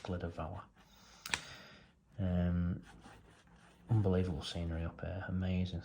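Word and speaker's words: Glyder Fawr: I think that's pronounced Glida Vawr.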